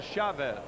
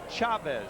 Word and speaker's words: Chavez: Is it Chavez or Chavez? Well, the Spanish pronunciation is Chavez, C-H, but it's been Americanized into Chavez.